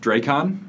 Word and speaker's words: Dracon: So for what it's worth, I pronounce it Dracon. Dracon. Like dragon. Kind of.